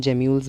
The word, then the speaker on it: gemmules: वो आपके गैम्यूल, GEMMULES, क्या गैम्यूल्स बोलता हूँ मैं इसको बेसिकली, इसका एक्चुअल प्रोनाउंसिएशन जेम्यूल्स भी होता है कुछ कुछ जगह पे, कुछ लोग इसको कुछ बोलते हैं, तो I just usually pronounce it एज गैम्यूल्स।